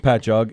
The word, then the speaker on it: Patchogue: island called patchogue it's spelled patago but it's pronounced patchogue it's um it really is spelled that way